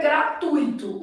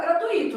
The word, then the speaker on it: gratuito: O certo é gratuito. O problema é que há pessoas que vão falar gratuito.